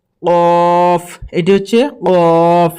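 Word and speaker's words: ق: কফ এটি হচ্ছে কফ আমরা অনেকজনই এই কফ অক্ষরটিকে ভুল করি এই কফ অক্ষরটি এবং কাফ অক্ষটি আপনারা এই দুটি লক্ষ করেন একটি হচ্ছে কফ আরেকটি হচ্ছে কাফ প্রথমটি হচ্ছে কফ এই প্রথম অক্ষরটি হচ্ছে কফ আর এই দ্বিতীয় অক্ষরটি হচ্ছে কাফ। তো এই যখন এই অক্ষরটি বের হবে তখন হালাক থেকে একদাম এইভাবে একদম গলার ভিতর থেকে বের হবে।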